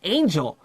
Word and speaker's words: Anju: She says, no, my name is Angel. I was like, Angel? It's just Angel, A-N-J-U.